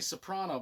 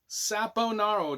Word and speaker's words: Saponaro: I want to say Soprano, but that's not it. It's Sapp Saponaro. I'm way off. Saponaro. Dominic Saponaro.